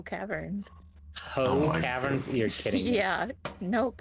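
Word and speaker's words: Howe: It's spelled h o w e s. Yeah, but it's spelled like that's less exciting.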